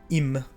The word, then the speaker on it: im: So im and I, which is the correlative conjunction used for the in Sindarin, those words are too short to pronounce the y sound in, so they keep the I sound at the beginning.